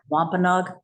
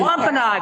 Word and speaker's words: Wampanoag: And maybe we could have a brief thing on how to pronounce Wampanoag. No, I'm just being fresh ahead. Not you. Wampanoag, not Wampanoag.